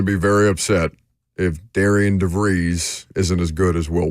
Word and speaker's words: DeVries: I know it now DeVry, because, again, like the university.